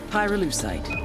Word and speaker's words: pyrolucite: Pyrolucite. Key syllable.